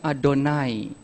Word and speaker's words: Adonai: Israel tidak perlu sebut ketika mereka ketemu kata YHWH, mereka tidak baca Yahweh, berbunyi terdengar seperti saya. Setiap kata YHWH, mereka akan bacanya Adonai.